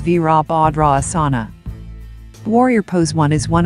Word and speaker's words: Virabhadrasana: asanas or yoga poses the asana is pronounced as veerabhadra asana warrior pose one is